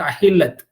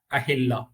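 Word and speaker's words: أهلة: தமிழ் அகிலம் இல்ல. தமிழ் அகிலம்னா வந்துட்டு அது உலகம். இது தமிழ் அகிலம் கிடையாது, அரபில உச்சரிக்கக்கூடிய அஹில்லா.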